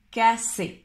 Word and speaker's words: casser: Cacher, cacher, esconder, et casser, casser, j'empêche. Cacher, le premier, cacher, c'est le son ch, cacher, et le deuxième, casser, comme un S en espagnol, casser.